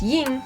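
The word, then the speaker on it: 荧: even the chinese kanji used for her character pronounced yin means glimmering or fluorescent so yeah illuminating isn't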